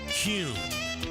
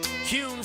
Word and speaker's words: Kuhn: And now, I'm going to share the absolute right way to pronounce Kuhn flowers. It's Kuhn. Kuhn flowers.